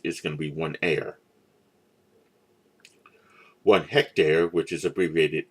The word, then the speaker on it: are: metric units it's the air a-r-e this this is pronounced air like the air that you breathe then hectare and square